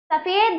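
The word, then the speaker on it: सफ़ेद: इसके सफेद, मैम इसमें जो है ना नीचे वो ज्यादा, इसको सफेद पढ़ा जाएगा। ठीक, क्योंकि उर्दू के प्रोनाउंसिएशन के लिए लगाया जाता है ये, तो उर्दू के ही वो निकाला जाएगा इसमें।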